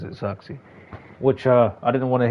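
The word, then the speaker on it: Zirkzee: Speaking of, the man himself pronounces it Xerxes, which I didn't want to hear him.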